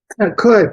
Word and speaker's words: could: Teach that pattern, that O-U-L-D pattern, how the L is silent, really highlight that so children remember it when they're writing.